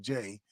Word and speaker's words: Jeh: Jay is a funny spelled name. It's Jeh, but it's pronounced Jay Johnson.